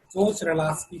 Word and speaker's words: Czochralski: The pronunciation of this is Soch-Lasky process.